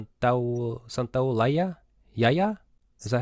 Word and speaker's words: Santaolalla: Santaolalla? Yaya? Is that how you say it? Santolaya.